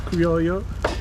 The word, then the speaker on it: Criollo: pronounce it. It's Criollo.